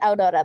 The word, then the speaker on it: Aurora: Is it Aurora raising a hand? Yes, I pronounce it Aurora though.